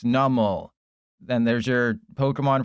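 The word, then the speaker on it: Numel: So, it's like a numb camel and it's numl.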